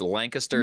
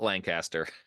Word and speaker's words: Lancaster: New York or New Jersey they never can pronounce it correctly yeah yeah it's it's Lancaster not Lancaster yes so like I said this interview is